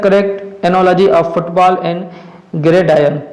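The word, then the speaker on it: gridiron: Question number 15 है आपका, choose the correct analogy of football and ग्रेडायन। ग्रेडायन में आर जो है यहाँ पे साइलेंट होता है।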